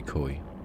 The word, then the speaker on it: koi: out again Japanese oh koi oh koi there you go Koi carp McCoy don't be koi that so that's how you say it koi I've seen KO old